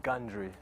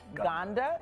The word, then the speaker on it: Gandre: It's Gandre. Gandre. Yes. I apologize. I said Ganda.